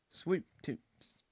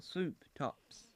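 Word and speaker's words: Swop Tops: Alpha Blocks, and Mojo Swoop Toops. Now, Swoop Toops is spelled S-W-O-P. Oh, Swoop Tops is what it is.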